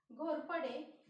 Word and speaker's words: Ghorpade: Ghorpade.